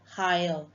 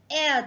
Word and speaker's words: heir: It's not higher, it's heir to the throne. Uttradhikari, heir, pronunciation e.